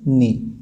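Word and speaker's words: knee: तो यहाँ पर जो साइलेंट लेटर हो रहा वो हो रहा आपका ए, यानी के इज the silent letter in नी।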